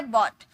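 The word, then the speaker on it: bought: इसका second form होता है बॉट। बोट देखिए इसकी प्रोनाउंसिएशन मैंने लिख रखी है क्योंकि बहुत सारे स्टूडेंट्स बाउट पढ़ते हैं। बाउट नो गाइस बाउट नहीं बोला जाता।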